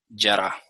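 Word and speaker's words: ירה: Yará. ¿Okay? Voy a escribir ahora al lado pronunciación y traducción. Torah, esto se pronuncia Jorah y esto se pronuncia yará.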